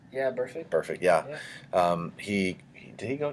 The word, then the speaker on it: Burfict: Yeah, Burfict.